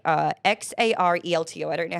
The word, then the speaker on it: Xarelto: Bayer, which manufactures branded drugs like XARELTO. I don't know how to pronounce that.